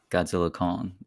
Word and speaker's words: Godzilla x Kong: to be just called Godzilla Kong x is silent so stupid just call